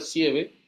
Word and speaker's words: sieve: Cuando hablamos de los tamices moleculares, o fíjense acá, molecular sieve, se pronuncia sieve, molecular sieve, son esas estructuras cristalinas,